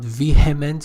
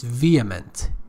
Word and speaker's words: vehement: It's not vehement, it's vehement. H is not pronounced.